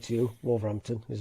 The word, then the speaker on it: Wolverhampton: Or as I just said to you, Wolverhampton is how we pronounce it.